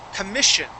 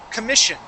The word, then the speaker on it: commission: This word is commission. So the double S that's here in the middle of the word, that sounds like an SH sound. Commission.